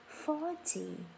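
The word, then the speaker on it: forty: 14 trong âm rơi vào âm tiết thứ hai. Thế mình sẽ không nói là 40 khi mình nói cái từ 14 á, mà mình sẽ nói là 14. Còn 40 thì mình sẽ nói là 40.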